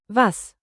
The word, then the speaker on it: was: Say vas like vase not was and keep crisp east.